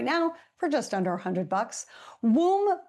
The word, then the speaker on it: Woom: Woom Bicycles rhymes with Zoom, but with a W instead.